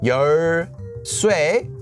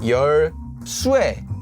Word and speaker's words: 열쇠: So you have 열쇠, or you have 열쇠, 왜. Slightly different. So it seems that this diphthong, this vowel, can be pronounced as either itself, 왜, or as 왜.